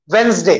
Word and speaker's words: Wednesday: now silent letters D, इन number में D silent है। the first word, tell me what is it? very good, Wednesday।